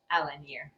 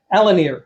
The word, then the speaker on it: Alenier: So Alanier, what's the right pronunciation? Alanir Alanier Al Alanir Alanir okay um has written eight books of eight